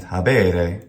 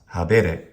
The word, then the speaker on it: habere: And habere, not habere.